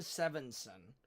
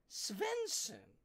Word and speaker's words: Svensson: She first sent me Seven Sevenson, which was not his name. She then sent me Savan Savinson, and I'm like, what the? It's Sven Svensson.